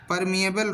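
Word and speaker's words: permeable: उसे हम प्रीमिएबल नहीं, ठीक है, यहाँ परमिएबल होगा, ठीक है, अपन से थोड़ा सा प्रोनाउंसिएशन में दिक्कत है, ठीक है, हो गया है।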